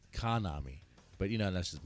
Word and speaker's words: Kanami: I'm actually saying Konami and it says Kanami.